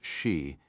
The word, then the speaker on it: Xi: Gabby Buouie, a National Security Council staffer now assigned to dare here, leaned over and said she quayomu is his name, spelled xi, pronounced she, heavy dude, born on